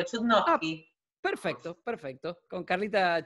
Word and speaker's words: Chudnovsky: Carla, yo te dije Chudnovsky, ¿cómo es la correcta pronunciación del apellido? Lo pronunciaste perfecto, Chudnovsky.